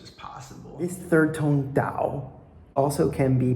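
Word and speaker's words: 導: This third tone Dao also can be pronounced Dao, is to lead, guide.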